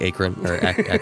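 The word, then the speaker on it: Acheron: large cave the word Akron written across the top in big bold red letters overall a pretty metal cover Akron spelled a-c-h-e-r-o-n in Akron Ohio like Akron yeah that's it actually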